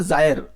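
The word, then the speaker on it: gyre: हाँ, पर्न जायर, ये जायर हम लोग इसको पढ़ेंगे गाइस, थोड़ा ध्यान देना, इसको पढ़ेंगे जायर, है ना।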